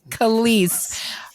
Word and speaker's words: Kelis: of the name again you sure did it's it's kalists Khaleesi you know what that's so much easier for me it's Kelis beg pardon I'm sorry